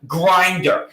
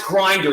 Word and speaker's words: Grindr: pronounce this right we're gonna try it's called Grindr now how to spell that GRI and BR see I left out to eat you know pronounce Grindr there's no eating now this is the Brokeback